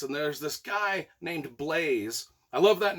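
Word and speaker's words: Blaise: there's this guy named blaze i love that name by the way b-l-a-i-s-e and i pronounced it blaze from the get-go correctly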